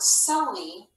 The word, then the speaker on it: silly: So even though we don't hear both L's when we pronounce the word silly, you don't really hear it clearly, we actually consider this like a bonus letter.